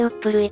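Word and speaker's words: 十六島: 島根県には 16 島と書いてウップ類と読む地名がある語源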